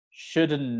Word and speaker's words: shouldn't: shin nib is fine you don't really need to pronounce this d sound okay same with could